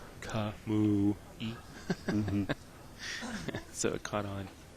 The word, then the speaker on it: Kamui: He was over there, and I told him to tell the booth how to pronounce Kamui.